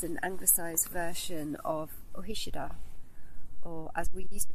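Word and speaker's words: Ó hÍceadha: So Hickey, our surname, It's an anglicised version of Ohishida, or as we used to pronounce it before we realised we were pronouncing it wrong, Ohikeda.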